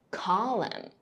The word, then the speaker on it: column: BT 结尾 B 不发音 Doubt.Debt, M N 结尾，N 不发音，Autumn, Column, 最后一个 S T L E 结尾，T 不发音，Castle, Whistle, 点我头像来我直播间一起学习吧。